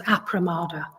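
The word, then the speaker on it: appamāda: So appamada, I think it's sometimes spelled and pronounced as apramada. So appamada, it translates as ethical vigilance or ethical heedfulness.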